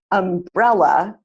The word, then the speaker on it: umbrella: up so for example when I say umbrella the student sitting in the middle the second syllable that student stands up